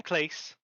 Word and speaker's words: Clace: I'm Clace. Rhymes with place.